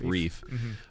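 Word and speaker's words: Ryf: so uh Daniela re no Daniela Reef pronounced Reef uh is my pick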